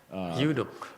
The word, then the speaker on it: eunuch: Eunuch. The pronunciation I'm familiar with is the E is silent. It's a eunuch.